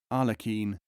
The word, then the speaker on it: Aghlaq: Plural Aghlaqin, pronounced with guttural R and European Q, as Arlequin, Arlequin.